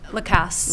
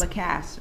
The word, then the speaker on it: Lacasse: I'm sorry, how you pronounce it? Lacasse. Lacasse.